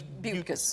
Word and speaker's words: Buttgas: It's spelled oddly, but it is Buttgas.